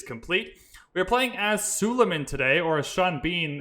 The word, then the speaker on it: Suleiman: We are playing as Suleiman today, or as Sean Bean in the announcer thing, he pronounces it Soyaman, so Suleiman, Soyaman.